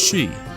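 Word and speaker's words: し: The number 4 can be pronounced she. It's like the same as saying death.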